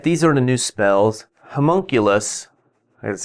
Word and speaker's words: homunculus: hire all right these are the new spells homunculus that's how you say it it's basically if